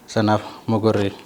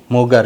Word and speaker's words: Mogor: Garuu pronunciationii Oromoo yeroo waa'u Mogor jedhee oo kanaan waama. Mugar immoo pronunciationii warra afaan Oromoo sirriitti hin dandeenye Mugar kan jedhu. Isantu akkaataa waamuu dadhabee Mugar jedhe malee? Originaalii maqaanii Oromoon yeroo waamu ka warra keenya Mogor laga Mogor kan jennu oodha fayyadamu osoo hin taane jechuudha.